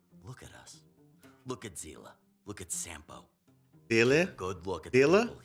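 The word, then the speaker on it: Seele: mihoyo just schooled us is Sila z e no it was like zela like a z foreign the lives of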